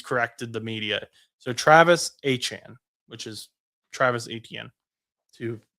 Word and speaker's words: Etienne: So Travis Achane, which is Travis Etienne. To people who haven't seen that, Travis Etienne said his last name is pronounced Achane.